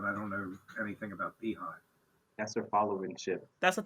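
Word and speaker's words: Beyhive: I know who Beyonce is, but I don't know anything about Beehive. That's their followership. That's what they call it, like the Bay. It's spelled like Beyonce, BEY hive, Ah, okay. the Beehive.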